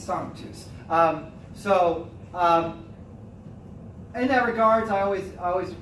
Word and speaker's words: sanctus: has no clue to how to even pronounce sanctus, or sanctus, sanctus, sanctus. No, it's not sanka coffee, okay? It's sanctus.